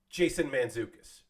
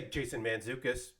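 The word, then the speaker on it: Jason Mantzoukas: I can easily say Jason manzukas I can say Jason manzukas no problem the t is silent it's manzukas but there's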